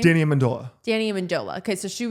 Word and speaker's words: Amendola: Amendola, how do you say his name? Danny Amendola.